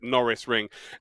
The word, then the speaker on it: Norisring: chat many a time it's like lando norris so we actually called it the lando norris ring for the year so that's how i would pronounce it norris ring it is one of